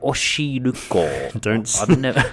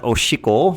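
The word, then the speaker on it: お汁粉: Number 4 is try Oshiruko. Don't mispronounce that. Oshiko. Oshiruko. Right. Oshiko means pee, piss. Yes. Oshiko, a pee. So try Oshiko. Do not try it. Try Oshiruko.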